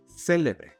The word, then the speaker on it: célebre: If we stress the initial syllable, célebre, then it means something or someone that is famous.